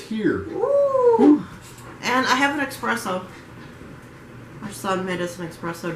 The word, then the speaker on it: espresso: it wrong didn't i it's espresso not expressive yes it is i do it all the time sorry all right so chapter 15.